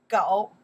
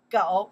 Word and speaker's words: 狗: Okay, pronounce 狗 one more time. 狗 one more time.